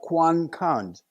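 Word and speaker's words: quân cảnh: like a security police QC is a Vietnamese word is pronounced Quan cons and they were like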